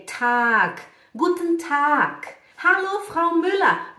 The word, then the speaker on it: Tag: Já entendi a pronúncia, já sei que é Tag, né? É Tag.